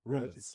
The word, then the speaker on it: Rombouts: Rombouts.